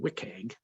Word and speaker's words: WCAG: your content against a standard called wikang that is actually how it's pronounced wcag from the w3c